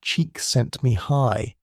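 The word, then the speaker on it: Csikszentmihalyi: Mahali cheeks sent Mahalai, whose surname is pronounced roughly cheek sent me high, which is itself a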